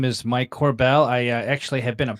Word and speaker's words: Korbel: about fixing finance here uh joined with mike corbell uh assume that i assume i pronouncing that correctly you got it right man